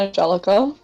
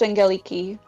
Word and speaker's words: Angeliki: My name is not Angelica. It's not Angelica. How do you pronounce Just- your Discord name? How do you pronounce it? Yeah. Angeliki. It's pronounced Angeliki.